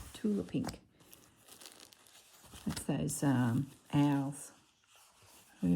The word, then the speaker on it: Tula Pink: Tula Pink. That's how you say it. Not Tilda. Tula Pink.